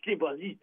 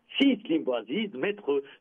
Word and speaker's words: Slim Bouaziz: Ce n'est pas Slim Bouaziz, c'est Slim Bouaziz, grand maître Slim Bouaziz.